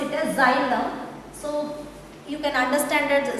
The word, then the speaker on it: xylem: See here we pronounce it as xylem.